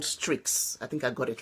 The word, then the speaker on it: Streaks: in Snapchat, and I made sure that I pronounced that properly. I think it's called Strix.